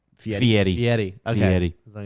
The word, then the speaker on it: Fieri: merge, I want Guy Fieri in that game. I think that'll be cool. You guys know that's not how you say his name? Fieri.